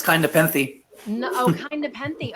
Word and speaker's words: Nepenthe: he is the author of the novel kind nent did I say it right no it's kind of peny no oh kind of peny okay thank you